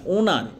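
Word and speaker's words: honour: অনারড মানে কি অনার অনার মানে কি বানানটা দেখো ওটা ওডব এনই আর ওনার নট অনার ওটা ওনার উচ্চারণটা ওনার আর এটা অনারেবল অনারেবল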